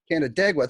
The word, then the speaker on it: Canandaigua: How the hell do you pronounce that? Canandaigua. Canandaigua. There you go. That's the New Yorker.